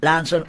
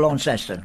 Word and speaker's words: Launceston: I'm proud to be born at St Stephen's in Lanson or Launceston, whichever you call it. Well, that's right, because it's one of those towns that has different pronunciations to it.